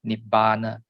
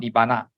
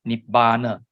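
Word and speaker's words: nibbāna: Not n i b a n a not nibbana. Nip ber. So what is nibbana from various sutas and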